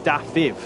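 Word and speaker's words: Dafydd: Spencer, that it's actually pronounced Dafiv in Welsh.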